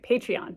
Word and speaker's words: Patreon: it's a patreon account p-a-t-r-e-o-n I do not pronounce that right patreon patreon there you go patreon account um it's